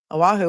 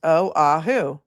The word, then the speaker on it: Oahu: Oh, thanks Angie for sending me a whole Aahu is pronounced oahu.